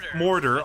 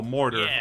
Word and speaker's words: Mordor: how he pronounces like Mordor oh thank you really appreciate that order Oh Mordor okay thanks think of water except it's Mordor yeah that makes sense or